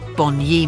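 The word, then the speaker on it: Bunya: Aborigines always met there before traveling to the bua mountains or to be correct Boni mountains the natives always pronounced it so of the Bon ye season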